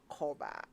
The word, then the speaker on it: Korba: In addition, you get a free insurance cover while you make your payments with Koba.